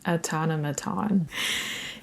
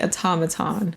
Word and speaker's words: automaton: Is that how you say it? Automaton. Autonomaton. Is it aaton? It can't be. It has to be automaton, a golden automaton.